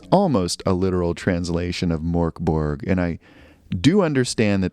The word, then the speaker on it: Mörk Borg: I do understand that the OOTS over the O are not just heavy metal OOTS but they do in fact affect the pronunciation making it closer to MK Borg though I sound really